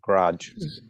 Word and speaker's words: garage: One syllable, garage.